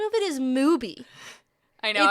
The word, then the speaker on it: Mubi: Why would I think it's called Mubi? Sounds like booby. Like, or Tubi. Stupid. But anyway, I really don't like that it rhymes with Tubi.